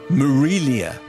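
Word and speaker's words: Marília: I asked her moments later how I should pronounce her name, and she explained it was said Marilia, with more of an M sound than an A sound at the beginning.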